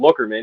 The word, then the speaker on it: Lookerman: They're like, yeah, we're down here, Lewes Beach, or we have a street called Lockerman, but it's spelled Lookerman.